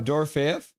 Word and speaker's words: Dorofeyev: Oh, I always say that guy's name wrong. No, Dorofeyev.